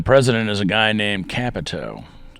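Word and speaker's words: Kapito: is a guy named capito kind of rhymes with capital just so happens that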